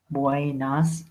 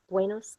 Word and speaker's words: buenas: to try it too buenos Tardes and and here you can see this one is a little bit different from buenos dias because it has an a instead of an o so say that one